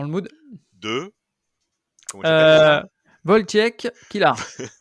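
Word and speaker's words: Wojciech: mood de comment tu voltiek Kilar voltiek ouais c'est ça en fait c'est pareil il faut pas prononcer le J il faut prononcer le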